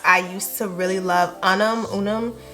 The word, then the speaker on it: Unum: I used to really love Unum. I'm not sure how to pronounce it, but it's UNUM.